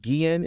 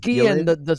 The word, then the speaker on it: Guillen: But wait, isn't your last name pronounced Guillen instead of Gillen? The Spanish way to say it, or the Hispanic way to say it is Guillen. But a lot of people just say Gillen.